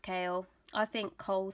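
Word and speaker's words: Chaol: he's cool Kael but it looks like coal or coal apparently pronounced kale I think coal sounds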